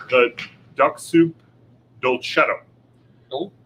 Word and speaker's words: Duxoup: the Duxoup Dolcetto. Oh, Duxoup. And not like DUCKSSOUP, it's DUXOUP. I think it's Duxoup.